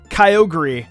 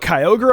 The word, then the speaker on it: Kyogre: I pronounced as Groudon, Kyogre, and Rayquaza. Rayquaza is a really common one, so I don't think I'm that bad. But Kyogre, on the other hand?